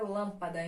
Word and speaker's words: lâmpada: Então ela é paroxítona e temos as proparoxítonas que é antepenúltima sílaba mais forte exemplo aqui a palavra lâmpada então Ruan para é a antepenúltima sílaba da palavra e ela é mais